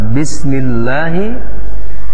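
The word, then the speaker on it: بسم الله: Pertama adalah lafaz bismillahi, yaitu lafaz Allah yang didahului harakat kasrah itu dibaca dengan berbunyi A. Hukum bacanya adalah tarqiq, dibaca dengan bacaan tipis, bismillah.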